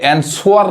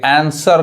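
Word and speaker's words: answer: W silent होता है अब इसको क्या कहेंगे एन स्वर नहीं कहेंगे आंसर कहेंगे आंसर समझ में आ रहा है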